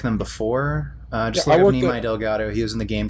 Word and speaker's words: Delgado: M E L I Delgato. N E M A I. Nei. Then Delgato. You just spell it how it sounds.